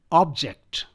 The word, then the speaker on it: object: So first I'll pronounce these 4 words as nouns. So the first one is object, progress, record, present.